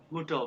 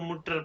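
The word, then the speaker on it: Mutter: था मुटर, वो उसको मुटर पढ़ा रहा था, लेकिन जर्मन वाले इसको मुटो, मुटो कहते हैं, आर को नहीं पढ़ना, मुटो मुटो ऐसे कहते हैं, ठीक है?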